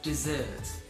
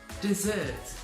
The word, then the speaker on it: dessert: W is actually silent the next word is dessert dessert there's two S's now this is like